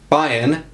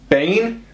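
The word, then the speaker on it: Bayn: our contenders list is bayen which is how i pronounce it it's b-a-y-n so bain bayan bane let's go spain okay so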